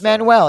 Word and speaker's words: Manuel: Um, it's very but anyway, so it's Manuel is how you say it.